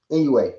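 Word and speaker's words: Inoue: nigga Inouye. What'd you say? That's how you say his name. I've been calling that man Inouye, some shit like that. Yeah. NUA, Anui, something like.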